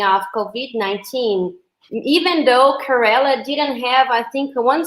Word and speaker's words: Kerala: like it's she's the Minister of Health in Kerala is that right is that how we pronounce it yes her name is Shai Elijah